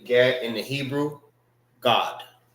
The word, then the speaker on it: Gad: When we pronounce our Hebrew, it's ah.